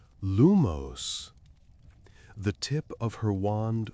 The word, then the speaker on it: lumos: He emphasized accent on the second syllable and the movement a light upward flick as if you're lifting something weightless. Iris raised her wand concentrated and pronounced lumos.